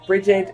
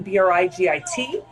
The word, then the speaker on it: Brigid: And by the way, when you're dealing with Brigid, you're not talking Brigit, which is how we spell it. In America or in England, it's Brigid, Brigid.